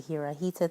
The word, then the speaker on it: Hirajeta: Throughout this video, I was mispronouncing the deck's name. It is the Hirajeta Tarot.